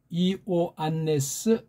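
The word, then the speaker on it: Ἰωάννης: 이오안네스 아포스톨로스, 즉 요한 사도란 말이에요. 요한이라는 말도 이오안네스라고 해야 돼.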